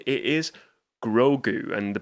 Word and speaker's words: Grogu: It is Grogu, and the pronunciation, well, the spelling of that name is Grogu.